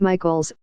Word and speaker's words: Mitcheltz: For voters like Mr. Mitcheltz, pronounced Michaels, Mr.